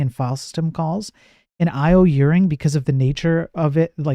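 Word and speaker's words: io_uring: No, that's how you say it, Charlie. Yeah, IO-Uring, yeah, that's how I say it, yes.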